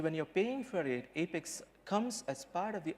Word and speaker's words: APEX: development platform you know most of us here pronounce apex as effects but that's not epics it's apex right well you could those of you who